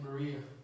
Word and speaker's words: Berea: paul came and preached to the people in berea and that is how you pronounce it he came to preach also amen